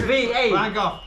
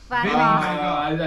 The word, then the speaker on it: Van Gogh: No, you need to get pronunciation correctly. Van Gogh. Vincent No, Van Gogh. no, that's not correct. Bjorn, did you press? Van Gogh.